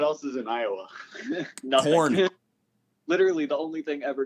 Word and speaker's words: Korn: It's the Corn. It's spelled Korn. It's got like the font for Corn, and all that.